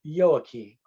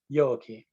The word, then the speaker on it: Joachim: named anna and her father was named yoaki spelled with a j yoki and this is the